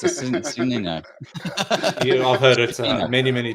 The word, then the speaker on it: Cicino: Well, as it's spelled, it's Cicino.